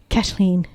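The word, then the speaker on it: Caitlín: and tour guides but they don't say it they said kashlin and that's where my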